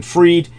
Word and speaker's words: Fried: to Sam Bank been freed uh we're talking about a guy whose last name is actually spelled fried so I'll happily pronounce it fried cuz I think it's